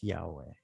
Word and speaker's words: Yahweh: Because you're supposed to say it with every breath. The H as being the exhale. So it's like I-ha-we-ha.